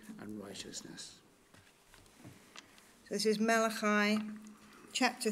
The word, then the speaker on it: Malachi: Malachi. Malachi. I'll pronounce it Malachi then for today.